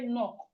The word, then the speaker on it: knock: you've missed it because you can hear knock. It's starting with K. The knock, like to knock on somebody's door, it's starting with K, but the K is silent.